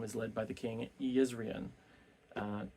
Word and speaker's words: Jezrien: led by the king Yan uh not jezrien but apparently in uh in rosarin the J's are pronounced like y's but we see that